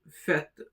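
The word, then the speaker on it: fête: First of all when we have the axon complex on e the pronunciation is a which is same as a for example in fet in fet which means a party. Notice the e sound is pronounced as e infet.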